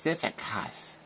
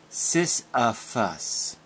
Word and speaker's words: Sisyphus: It's pronounced Sisyphus. Sisyphus. Sisyphus.